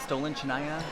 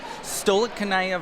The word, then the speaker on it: Stolichnaya: Stolen Chanaya? Stolichnaya vodka. This is Stolichnaya vodka. Oh goodness, I can't pronounce any of this.